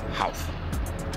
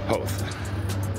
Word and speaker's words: Howth: going up north to house house I think it's pronounced house ho okay I'm wrong I heard Nery in the background ho my apologies is a